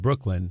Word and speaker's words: Brooklyn: The O-O in Brook says because that's one of the sounds that vowel team makes. It's closed in by the K, so it says Brook. And then the L-Y-N, the Y is closed in by the N, and the Y is acting as a vowel in that syllable, and it says the short I sound of I.